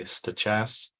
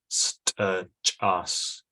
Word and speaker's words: Steh-Chass: People say Steh-Chass, but the traditional way of enunciation is Steh-Chass.